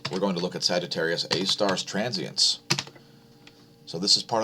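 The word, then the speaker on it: Sagittarius A*: way galaxy known as sagittarius a star it's spelled like this sgr a asterisk sagittarius a star nothing exciting happening there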